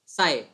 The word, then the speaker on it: psi: ना, साय होती है, इसको बोलते हैं PSI, साय। ठीक है, हिंदी में अगर याद रखना है तो साय। ठीक है, साय, ऐसे इसको प्रोनाउंस करते हैं, साय।